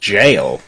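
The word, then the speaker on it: gaol: nope it's pronounced jail it's just Old English for jail I was reading a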